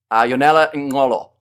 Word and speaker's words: Yonela Ngolo: Yonela Ngolo. Ngolo. There we go. It's almost coming back. I just had to try and work out where my click was, but Yonela Ngolo in that number 1 jersey.